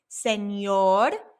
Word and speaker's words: señor: Remember, it has that N with the squiggly line, so it makes that nia sound. Señor.